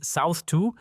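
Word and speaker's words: SoutH2: South Hatch 2, prononcé South 2, désigne un consortium tripartite, l'Algérie via Sonatrach l'Italie, via l'opérateur gazier Snam l'Allemagne via Trans-Austria Gasleitung.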